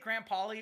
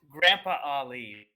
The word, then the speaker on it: Grandpa Ali: Is it Graham Polly, or have I been saying it wrong? It's Grandpa Ali.